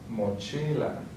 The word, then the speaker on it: mochila: The next one ends with a vowel, so then the accent is going to be on the second to last, mochila.